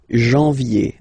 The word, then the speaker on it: janvier: Janvier, A-N, en, okay? And then ye, janvier.